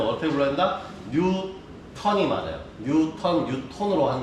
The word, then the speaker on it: 뉴턴: 뉴톤으로 하는 게 맞아요. 네, 그 나라에서 발음이라면 이게 맞아요. 근데 얘들은 뭐냐? 뉴튼이라고 하지.